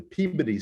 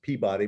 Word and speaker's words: Peabody: And interestingly enough, a couple of Unitarian women, the Peabody sisters, Peabody, but they pronounce it Peabody in Massachusetts, become the first translators of Hindu texts in the United States.